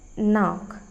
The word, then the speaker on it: knock: Sometimes K is silent in words like knock.